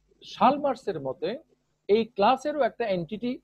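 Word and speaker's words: Chalmers: ওকে, Chicago উচ্চারণ যেরকম, শালমার্স উচ্চারণ সেরকম। কেউ কেউ এটাকে চেমার্স উচ্চারণ করে, আসলে হবে শালমার্স।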